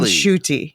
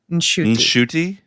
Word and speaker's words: Ncuti: pronunciation of his name we have not been pronouncing the n in his name and apparently we should be so it's shti yeah NTI mhm shti just a little n at the beginning see that's fascinating because